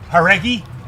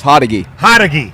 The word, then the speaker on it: Hodegi: Haregi? Close. Hodegi.